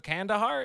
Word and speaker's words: Kandahar: The host of the Lions Led by Donkeys podcast, the writer of the Hooligans of Kandahar. Did I pronounce that correctly?